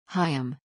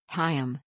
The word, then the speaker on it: Chaim: unhinged manner the facts hiam pronounced KH I M Weiss was a 15